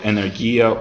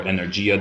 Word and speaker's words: Energia: Luckily, I ended up founding this software called Energia, or Energia, depending on how you pronounce it.